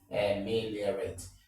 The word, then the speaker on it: ameliorate: Of course, when you have a word ending rat, most of the time the stress falls on the third syllable from the back, okay? Ameliorate.